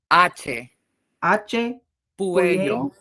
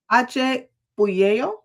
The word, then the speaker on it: Hache Puello: Hache Puello. That. Remember in Spanish, H is silent.